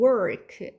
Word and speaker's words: work: 얘는 발음도 work. R이 있으니까 이제 혀를 안으로 말아줘야 돼요.